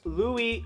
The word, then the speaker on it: Luis: here again and just in case you get confused with my name in the future it's pronounced Louie Oh Louise Louise